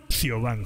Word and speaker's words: Siobhan: Siobhan, se pronuncia Siobhan.